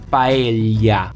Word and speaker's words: paella: Y también hay que mencionar a Cataluña, donde el sonido doble L corresponde al italiano y, y el resultado es que esta palabra, según un catalán, se podría pronunciar paella, con la y que no habíamos en familia.